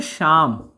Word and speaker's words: शाम: जैसे एग्जाम्पल मैं लेता हूं, जैसे देखिए, एक वर्ड है साम, एक वर्ड है शाम। अब देखिए दोनों मिलता जुलता है, लेकिन यहां उच्चारण है ना, उच्चारण कैसे मैं कर रहा हूं।